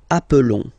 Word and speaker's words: appelons: Okay, nous appelons. And then little link would be perfect, so let's pronounce the whole thing again. Nous appelons. Nous appelons. Okay, final S doesn't exist.